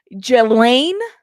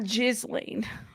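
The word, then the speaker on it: Ghislaine: to pronounce her name it's jelaine not jizan I say it like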